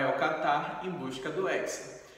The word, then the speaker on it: hexa: forma diferente olha só a palavra táxi por exemplo a palavra box e a palavra tórax tem a pronúncia de KS que é a mesma de hexa Olha só como a